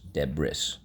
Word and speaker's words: debris: why deb is okay so first syllable deb second syllable i messed up i'm sorry wrists i should have said wrist debris it's actually debris so we don't hear the eye we don't hear